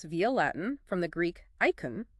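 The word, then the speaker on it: εἰκών: Now this concept comes to us via Latin from the Greek icon. That's e i k o n pronounced icon. Icon sounds like icon.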